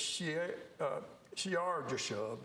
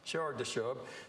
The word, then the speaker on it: Shear-Jashub: And the Lord said to Isaiah, go out to meet Ahaz, you and I think it's Shear-Jashub, I think how that's pronounced, Shear-Jashub. There's different ways of saying it, but anyway, your